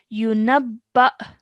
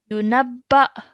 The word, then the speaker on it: ينبأ: ينبأ This alif with the sukoon means we have to make a jerk sound. Yunabba. ينبأ Yunabba.